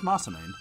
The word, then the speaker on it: Masamune: only the hero can you oh my god Masamune again he's gonna pronounce massaman I've always called it that I don't know